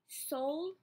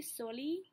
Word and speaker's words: Soley: So just saying, if you want to, like, pronounce my name, it's Soleil, not Soli, okay?